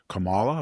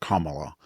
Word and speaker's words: Kamala: So, the question is, would any of this happen if Camala Harris Camala or is it Kamala? We She has both pronunciations.